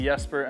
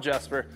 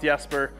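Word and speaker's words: Jesper: pronouncing your name right I was just informed that it may be yesper and not jper so we're going to go with yesper and hope that's correct uh now the video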